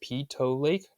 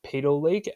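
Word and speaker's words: Peyto Lake: So afterwards, we decided to go to this lake called Pito Lake. It's actually pronounced PTO Lake, not Po Lake as some may call it.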